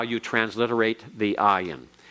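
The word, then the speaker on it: ayin: how you transliterate the ayan it is silent it is silent the next letter pay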